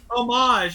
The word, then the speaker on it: homage: yeah it's like oh homage is the word you're looking for I don't know what the hell the object is like the the pronunciation you leave the H out like hors d'oeuvres right and they gotta